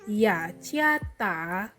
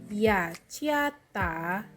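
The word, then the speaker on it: 雅加达: Jadi Jakarta dalam bahasa Mandarin adalah Ya Ciata. Aku ulangi sekali lagi. Ya Ciata. Sekali lagi. Ya Ciata.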